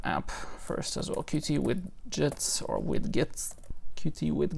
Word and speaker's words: Widgets: first as well QT Widgets or with Git QT with Git application it's pronounced widgets but I'm just gonna say with gets because I can't spell otherwise it's not ARG